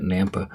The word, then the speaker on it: Nampa: You gotta say it like that, Nampa.